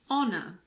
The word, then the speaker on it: honor: There are also a few words that start with a silent H. For example, air, honest, honor, hour.